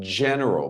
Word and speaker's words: general: The person might be hard, but the sound is soft. General, but generals generally have to have a tough character. But the word is J.